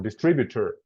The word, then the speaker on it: distributor: Okay, so the emphasis is in distributor, the second syllable.